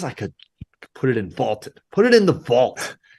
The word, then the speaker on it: VLTED: That is on the Vaulted app, VLTED, pronounced Vaulted, a new sports prediction app that turns your opinions into facts.